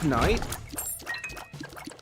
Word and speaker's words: knight: Technically, that part was accurate, which shocked me when I found out. Perhaps not the full pronunciation, but pronouncing the K. Apparently, it used to be a thing. It used to be knight.